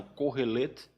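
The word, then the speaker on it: קהלת: dizer que é que é pronunciado ocorrer leite e esse nome estranho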